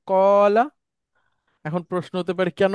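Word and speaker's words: قال: মাদি থেকে ওয়াওটাকে সরায় আলিফ নিয়ে আসলাম, উচ্চারণটা হলো কলা।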